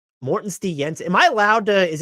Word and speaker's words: Morten Stig Jensen: should have asked you correct me on the pronunciation your name please like in in a real Danish accent yeah please okay Morton St yenson Morton St Yensen am I allowed to